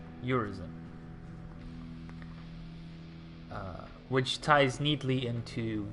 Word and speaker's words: Urizen: It's phonetically your reason, Urizen, which ties neatly into V being separate from Urizen.